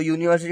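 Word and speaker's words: university: अब देखो यूनिवर्सिटी, तो यूनिवर्सिटी का प्रोनाउंस करेंगे तो हम कैसे होता है, य आता है, य।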